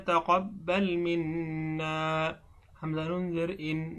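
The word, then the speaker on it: تَقَبَّلْ: তা জবর তা, কব বা জবর কব, বা লাম জবর বাল, তাকাব্বাল। মিম নুন জের মিন, নুন আলিফ জবর না, মিন্না। রব্বানা তাকাব্বাল মিন্না।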